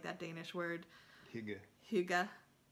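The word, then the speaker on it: hygge: years ago I feel like that Danish word Hyuga right but it's spelled hyg GE it got really popular do you remember that everything was hookah no oh my god it was in every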